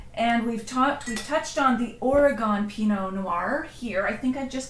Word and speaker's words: Oregon: So Oregon is spelled O-R-Y-G-U-N, like Oregon. Like gun. And if you say Oregon like a gun, Oregon, not quite that bad, but if you say gone like I'm gone, yeah, then they know you're not from Oregon. Okay. So you got to swallow the gun.